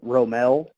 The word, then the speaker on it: romal: it right how do you say it so Romel is is how we say is how we